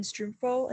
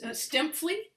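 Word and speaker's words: Stuempfle: Herman Strumpfel is how. Yeah, it's Stempfli. Stempfli. Okay, Stempfli. sorry.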